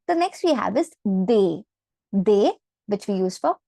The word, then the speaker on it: des: We have they.